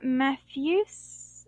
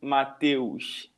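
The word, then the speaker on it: Matheus: So, Matthews, am I right? Yeah, good pronunciation. Actually, I say something like Mateus.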